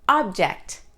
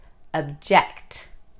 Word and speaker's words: object: Nouns, person, place, or thing always stress the first sound. Verbs, actions, always stress the second sound. Let's try a few. The noun, conflict. Verb, conflict. The noun, object.